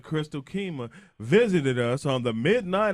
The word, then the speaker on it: Keymah: She said it's Keymah. Yeah, Keymah. please remember So we know how to say it properly.